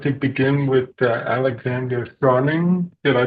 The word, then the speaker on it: Charnin: And so, I'd like to begin with Alexander Shaing. Did I pronounce that correctly? Shing.